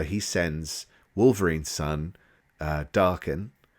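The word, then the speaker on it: Daken: the Punisher so he sends Wolverine's son uh darken it's pronounced turns out um I said Dakin for like years darken to get the Punisher office list for him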